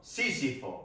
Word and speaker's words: Sísifo: Sísifo. Sísifo. Con acento en la I.